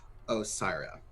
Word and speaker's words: Osiria: lot of time working, Osiria. Like Osiris.